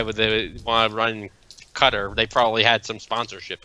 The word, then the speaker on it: Qatar: they want to run Qatar they probably had some sponsorship and whatnot that's actually how it's pronounced it's pronounced Qatar so yeah well we